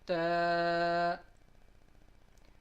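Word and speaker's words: تاء: Ta, ta. When the tip of our tongue touches the upper gum line of the front teeth, that is how we pronounce the letter ta.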